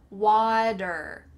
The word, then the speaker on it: water: Make sure that that T has changed to a D, like we've already talked about, water. And make sure the ER at the end is quite wrong, water, water, water.